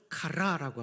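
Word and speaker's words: chara: 헬라 말로 카라라고 합니다. 또 젊은이들은 걸그룹 카라를 떠올릴 수 있는데 걸그룹 카라와는 알파벳이 다름을 말씀드립니다. 걸그룹 카라는 K-R-A이고요. 여기서 이 희락은 C-H-A-R-A 발음입니다.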